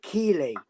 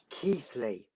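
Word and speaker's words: Keighley: Yes, well, you've been pronouncing it Keeley, and it gets on my nerves. Okay, so how do I pronounce it? Say it again. It's Keithley.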